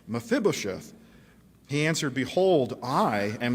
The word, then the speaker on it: Mephibosheth: his face and paid homage and david said mephibosheth he said it right mephibosheth he answered behold i am your servant and